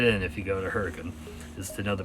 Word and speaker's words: Hurricane: even though the city looks like it is hurricane they pronounce it hurricane so that you know that'll that'll help you fit in if you go to hurricane just to know the pronunciation there anyway the